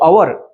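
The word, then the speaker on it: hour: होते म्हणून नेस्ट म्हटल तसच अवर या उच्चारण हवर अस होत नाही सुरू झाल असत तर आपण अवर म्हटल असत पण जे प्रोन्सशन आहे ते अवर असं होते अ या अक्षराने समजा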